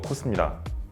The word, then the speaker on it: KOSS: 발음이 똑같아서 많은 분들이 이제 보스랑 헷갈릴 수 있는데 사실 인지도는 사실 보스가 더 높을 것 같아요. 그러니까 지금 세대의 분들한테는. 그래서 보스가 아니고 코스입니다.